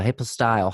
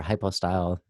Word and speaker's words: hypostyle: So a hypostyle hall or hypostyle, either pronunciation is fine.